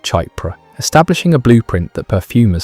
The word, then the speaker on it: Chypre: Chypre, pronounced Chypre, is one of the oldest and most sophisticated fragrance families in modern perfumery.